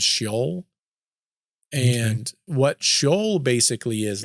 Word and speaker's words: Sheol: There's like two or three different pronunciations depending on where it's from. I think the way I'm supposed to say it is Sheol.